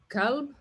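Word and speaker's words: كلب: Now, Heart, for many people who cannot pronounce the qa, it sounds exactly the same. Kalb Right. and qalb, which are completely different.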